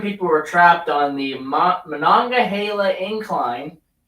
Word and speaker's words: Monongahela: 27 people were trapped on the Monongahela Incline. Said that correctly. Monongahela. I'm not from the area, and I can still pronounce it correctly.